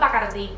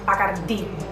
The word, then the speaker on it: Bacardi: It's called Bacardi. Say it correctly, say it again, Bacardi. Okay? You got acento in the last I, Bacardi.